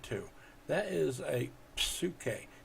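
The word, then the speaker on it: ψυχή: to that is a suit k you can hear the p at the beginning now last but not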